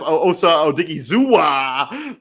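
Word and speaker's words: Osa Odighizuwa: And then I do like them bringing in Osa Odigizua. Look at that, Christian.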